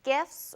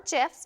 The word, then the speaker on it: GIF: GIFs, or GIFs, depending how you pronounce it, are short for graphics interchange format and are an animated looping of images only a few seconds long.